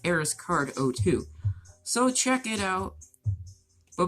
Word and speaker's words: ARIZCARD02: And for Twitch, it's ARIZCARD02. It's pronounced ArisCard02.